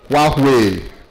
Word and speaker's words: Huawei: How do you pronounce that thing now? Huah. Huah Nigeria.